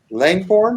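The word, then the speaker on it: Langbourne: Liz is the Langborn, is that pronouncing it correctly? That sounds right, yeah.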